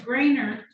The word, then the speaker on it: Grainer: I think it's Grainer. Yes. Yes. Yeah. That's how you pronounce it.